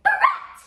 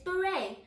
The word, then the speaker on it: beret: no it's yacht e e r e t baret no it's Beret M wears a beret C O M B